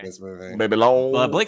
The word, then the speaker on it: Babylon: Why y'all keep pronouncing this wrong? Babylon. It's French.